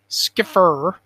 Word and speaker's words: Skiffer: pronunciation guide here is skiff pronounced like Skip and then ER like the hesitation noise so skiffer her um I'm sorry if